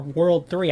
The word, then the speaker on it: WWW: WWW or World 3, I think it's pronounced.